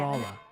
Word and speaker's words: Rolla: is emphatically Them both pronounced are mad. Rolla.